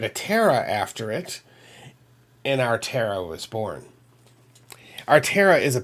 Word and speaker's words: Aretherra: This is how back there this is how it's supposed to be phonetically, you know, said our terra, if you will.